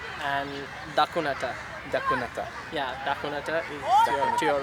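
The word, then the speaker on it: දකුණට: left please would be like vomiter and the cuneta the yeah you're right you're right yeah vomiter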